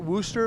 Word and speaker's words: Worcester: I know you real Baltimore uh am I pronouncing this right Worster Massachusetts yeah Worcester Mass that's my uh home race I only